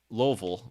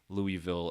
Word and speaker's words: Louisville: So, so Loville, which if you notice, the reason I'm I don't know if I technically say it right as a local would say it. However, um I don't say it as Louisville or Lewisville because my dad actually